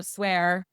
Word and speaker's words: SWAIR: So, swear spelled like hair s w a i r.